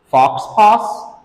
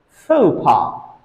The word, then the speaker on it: faux pas: did you pronounce that fox pass wrong actually this word has a French Roots it comes from French into English language so that's why the